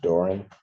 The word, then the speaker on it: Doran: And it's pronounced Doran.